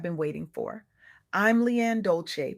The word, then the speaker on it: Dolce: I'm Leanne Dolce, pronounced Dolce, like sweet softness whispered in French, and I'm your guide